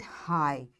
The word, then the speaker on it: high: So we'll say it high. this G will not be pronounced.